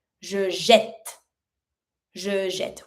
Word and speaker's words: jette: Je jette. Je jette. We add the double T because of the pronunciation. The fact of putting double T makes the first E A sound.